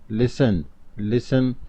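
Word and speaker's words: listen: लिसन में T silent letter है।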